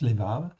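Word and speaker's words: לבב: lébab, en fait ici, ou lévav, on prononce lévav, ou lève, eh bien, sont toujours traduits, en fait ici, par simplement le mot cœur.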